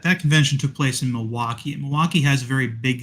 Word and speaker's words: Milwaukee: truly a Wisconsin night anyone from Milwaukee knows the L is silent hey I have to